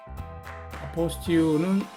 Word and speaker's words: 아포스티유: 이번 글에서는 아포스티유 확인과 영사 확인에 대해서 알아보도록 하겠습니다. 지금 요 보시는 이미지가 아포스티유 스티커 이미지인데요. 아포스티유는 스펠이 이렇게 불월해서 발음이 아포스티유 이렇게 발음을 하죠.